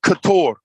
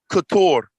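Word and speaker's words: katur: This word is pronounced couture. Couture. Couture. Right? Similar to the word kathir. This means much, many, or a lot.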